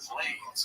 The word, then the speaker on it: Blades: And if you will remember, Curtis' last name is Blades because it rhymes with Blades.